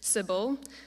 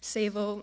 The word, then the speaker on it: Sable: To them, it is always Sibel, Sibel, Gable, because they don't even want to try to pronounce my name, Sable, and my favorite.